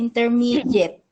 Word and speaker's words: intermediate: We should make the first T sound like a soft D. So we should say intermediate.